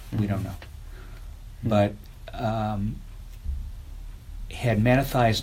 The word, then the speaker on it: Mattathias: But wouldn't you say that Mattathias, right? I always want to say Matthias. I say it wrong.